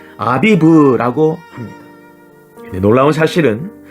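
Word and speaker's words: אביב: 연결됩니다 보리수스가 쳐서 익혀진 그 보리를 히브리어로 뭐라고 발음하는가 아비브라고 합니다 놀라운 사실은 그 아비브가 고민한 뜻이며 어린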